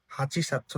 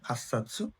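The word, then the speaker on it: 八冊: আট আট নাম্বারটা হচ্ছে আবার ডিফারেন্স, হাচি সাতসু না হয়ে হাসসাৎসু। আর 10 নাম্বারটা জুসাৎসু।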